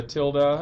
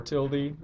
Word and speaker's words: tilde: It's called a tilde or tilde, depending on how you want to pronounce it. It's pronounced both ways.